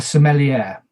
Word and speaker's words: sommelier: Another village role, who I will explain about later, a sommelier. Sommelier, I'm pronouncing that correctly.